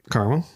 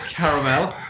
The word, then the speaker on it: caramel: Yeah, carmel's shorter, only two syllables. Instead of going with the three syllable version, just takes more time.